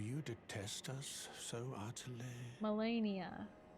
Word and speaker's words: Malenia: Malenia. That's how you pronounce it. I never really knew. Millicent, Malenia, do you detest us? Malenia. Like malaria. Okay, so that's it.